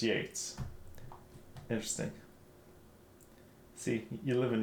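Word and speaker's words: Yeats: English speaking people um and I was not aware that it was uh pronounced Yates interesting see you live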